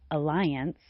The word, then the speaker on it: alliance: The second syllable of alliance sounds like lie. It uses the long i sound, which is unfortunate because a lie is something that is not true. A lie. Alliance. A lie. Alliance. The final syllable of the word alliance sounds like ants.